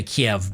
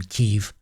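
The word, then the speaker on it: Kyiv: cemetery on the nation's, I always want to say Kiev because I'm used to the Russian pronunciation, Kiev, I guess I should say, on the nation's Independence Day.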